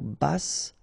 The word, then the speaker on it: basse: À taille basse, okay, so basse, final E not pronounced, but then you pronounce the double S, so S, basse.